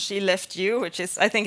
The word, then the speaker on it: Skellefteå: I live in Sweden in a place called Skellefteå, pronounced she left you, which is, I think it's just funny.